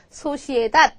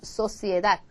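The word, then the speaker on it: sociedad: 그죠 얘가 그냥 한국말 한국어의 시옥 발음이라고 생각하면 소가 돼 가지고 소시에다 이렇게 될 것 같지만 절대 아니에요 소시에다 소 소시에다 so 이렇게 하거든요 그래서 저희가 이제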